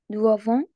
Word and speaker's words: doivent: Tous les enfants doivent être scolarisés. Doivent, نشوف ENT, أما je prononce E.